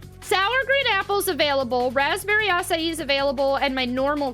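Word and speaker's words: açaí: Asai is the actual how to pronounce it.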